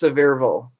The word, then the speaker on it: Sevierville: It is French, but in Tennessee, it's Sevierville.